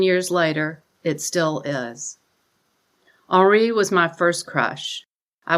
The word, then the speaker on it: Henri: I chose French because of him and learned not to pronounce the H.